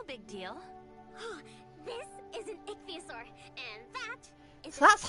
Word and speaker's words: ichthyosaur: This is an ichthyosaur, and that is so that's how you pronounce it.